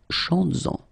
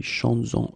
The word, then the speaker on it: chantes-en: Chantes-en, okay, could be chantes-en une, chantes-en. Alright, so keep in mind that you will have to keep this S, z, chantes-en, okay, to have this link between the two.